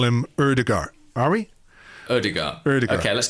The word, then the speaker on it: Ødegaard: See, Ødegaard. Ødegaard. Yeah, the D is silent.